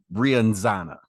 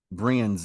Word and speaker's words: Brianza: It's 10 Via Brianzana. Brianza. I always mispronounce that, but it's Brianza.